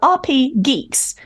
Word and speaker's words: RPGeeks: As also, I should point out, RPGeeks. Yeah. With only one G. RPGeeks. RPGeeks. RPGeeks. Like, not RPG Geeks. Not RPG Geeks. There's not two Gs, because that would be Geeks.